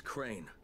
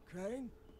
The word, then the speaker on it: Crane: store no my name's crane crane crane rhymes with train and brain and sun and gray and rain and plain and the other kind of plane and and can i